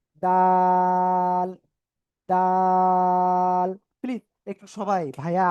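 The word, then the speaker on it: دال: নাম হল দা যেগা উপরের দুই দাতের গোড়ায় লাগান লাগিয়ে আপনি এটা তিন আলিফ টেনে উচ্চারণ করেন দাল তাল প্লিজ একটু সবাই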